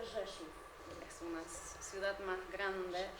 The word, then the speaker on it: Rzeszów: Esto se pronuncia Rzeszów, es una ciudad más grande cerca de Nienadówka.